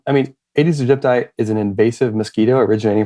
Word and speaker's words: Aedes aegypti: that you mentioned, and I'm going to definitely mispronounce its name. Aedes aegypti. Can you do a better job of that for me? Yeah, Aedes aegypti. Aedes aegypti.